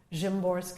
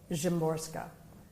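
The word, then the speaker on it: Szymborska: poets, uh, and one of them is Vizlawa Jimorska.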